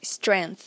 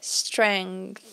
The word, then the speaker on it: strength: E ele que me deu essa força, strength. E strength é uma palavra muito interessante porque ela tem um G no meio que é pronunciado também, né? Strength, strength, strength, que é força.